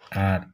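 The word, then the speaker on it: あ: তারপর হচ্ছে আমরা এইখান থেকে এইভাবে ধরে এই। আর হচ্ছে এই।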